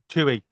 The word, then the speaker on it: Twohy: Tui. Yeah. Twohy.